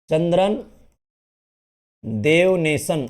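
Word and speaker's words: चंद्रन देवनेशन: मैं लिख देता हूं इसका सही उच्चारण हो जाता है चंद्रन देव नेशन ठीक है इस नाम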